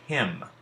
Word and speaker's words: hymn: throughout the podcasts additionally it can be silent when it's preceded by M if we think about the word him we don't hear the n sound the M makes all